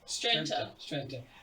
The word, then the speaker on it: Strenta: How do you pronounce those name? Stranta from Chickity.